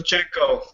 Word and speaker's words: Shevchenko: I'm not even going to, I'll try to pronounce Sarah Kaufman's opponent. Newcomer Valentina Shevchenko taking on Sarah Kaufman. Shevchenko.